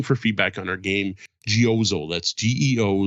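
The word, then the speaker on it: Geozzle: feedback on our game gooo that's Geo z zle e uh or I don't know it's supposed to rhyme with puzzle uh which had some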